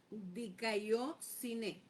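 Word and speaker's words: δικαιοσύνη: No lo puedo pronunciar. Creo que es diciné. Dicóineé.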